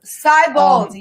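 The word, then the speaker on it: Siebold: Seibold, yes.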